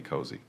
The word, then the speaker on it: cozy: clothes can certainly be cozy. In British English, we spell it with a Z, but sometimes you might see it with an S. The pronunciation is the same, rhymes with nosy.